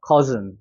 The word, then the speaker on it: cousin: 그럼 여기는 커고 여기는 즌이 되는 거예요. cousin.